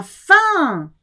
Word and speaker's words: faim: Ce pauvre chien a faim. You do not hear the M of faim.